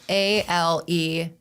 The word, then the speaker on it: Alegna: Okay, so it's Alegna. The G is silent.